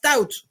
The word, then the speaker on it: TOWT: On prononce TOWT, T-O-W-T, et parce que c'est Trans-Oceanic Wind Transport.